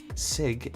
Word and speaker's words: cig: is that one though Sig is not spelled with an S for meat it's spelled with a c so it it might not be exactly how I was saying it but it does at least sound that way nice and simple I